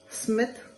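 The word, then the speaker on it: Psmith: And not to forget, Smith, The P is Silent.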